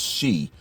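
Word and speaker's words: 四: behind that is because it's pronounced shi which is the japanese word for death this is according to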